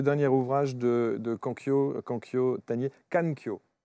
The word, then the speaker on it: Kankyo: Danser au milieu du chaos, c'est le dernier ouvrage de Kankyo Tanier, Kankyo. Kankyo, c'est comme ça qu'il faut le prononcer.